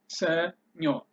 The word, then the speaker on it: ሰኞ: this by yourself without me giving you the pronunciation in English letters. Senyo.